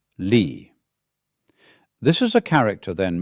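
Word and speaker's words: 理: And it's pronounced lee.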